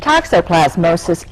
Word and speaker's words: toxoplasmosis: to practice that one what exactly is that toxoplasmosis is a protozoa that is carried in it's